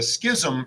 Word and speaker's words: schism: would then cause a Schism even more so Schism it's still only two syllables but it's got a lot of s's and H's in it what the Schism like